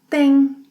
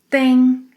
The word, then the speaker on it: têm: Você, ele, ela, a gente tem, tem nasal sound. Vocês, eles, elas tem, tem. Tem and tem have the same pronunciation.